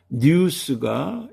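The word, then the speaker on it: ニュース: 뉴스가 있습니다.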